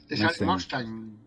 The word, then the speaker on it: Mustang: anglosajon zamos la fonética la fonética de la palabra mesteño como si la pronunciaran en inglés Mustang mesten claro Mustang claro entendes el For Mustang viene